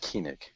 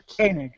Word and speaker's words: Koenig: I think it's pronounced Koenig. Walter Koenig. Okay, yeah. As if it's like K-A-N-I-G, but it's K-O-E-N-I-G.